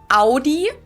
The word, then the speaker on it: Audi: Most Americans that I know pronounce it like I just said it. Audi. In German, we say Audi.